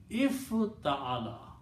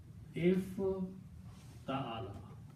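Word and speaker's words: افتعل: If, now the pronunciation of this word is if ta'ala. The sound is if ta'ala. So that's how we pronounce this.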